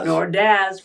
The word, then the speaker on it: Ordaz: Ordaz. Ordaz. Rhymes with jazz.